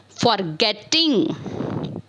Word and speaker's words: forgetting: But whenever you pronounce this type of verb, you have to stress on the second syllable of the verb, means forget, forgetting. These are the rules how to make the verbs in the ing form in different ways.